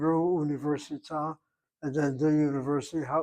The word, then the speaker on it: università: the word university above, she puts the accent over the third of the 5 syllables. Università. 5 syllables make up that word university. And so the middle one gets the accent.